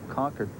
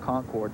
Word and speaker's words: Concord: Craven yes and Steve great job pronuncia that conquered not Concord that's right they slap you they